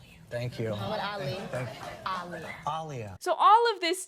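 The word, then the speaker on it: Aaliyah: In my last video, there were a couple of people who took issue with me saying Aliyia's name as Alia.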